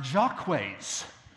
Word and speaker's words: Jacques: a very important character called Jacques but it's pronounced Jacques why well there was an ancient venerable English